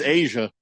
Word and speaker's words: Aja: that that keeps coming up for that is Asia Wilson okay um who's that'd be that'd be